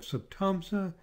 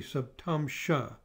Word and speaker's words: saptamsa: software and the rossi you'll often hear things pronounced with an s sound or an sh so some people say rossi some people say rashi and down here we have sabtamsa and some people say